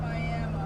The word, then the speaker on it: Miami: They're kind of near Miami, Oklahoma, but it's pronounced Miami.